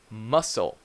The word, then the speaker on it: muscle: that's a silent ladder muscle muscle so you do not pronounce this C so it's very common